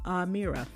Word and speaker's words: Amira: They put in parentheses how to pronounce her name. Amira.